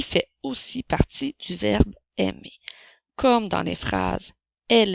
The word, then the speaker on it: aime: avec le mot ami lorsque tu vois les lettres A i ensemble ça fait le son et il aime comme dans